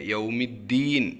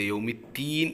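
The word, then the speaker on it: يَوْمِ الدِّين: നന്നായി നീട്ടുന്ന ആളുകൾ ഉണ്ട് പിന്നെ യൗമിദ്ദീൻ എന്ന് പറയുമ്പോൾ ദാലിനെ താക്കിയിട്ട് യൗമിത്തീൻ എന്നുള്ള ഉച്ചാരണം പലർക്കും വരാറുണ്ട് അപ്പൊ അതും ശ്രദ്ധിക്കുക അതേപോലെ യൗമി എന്ന് പറയുമ്പോൾ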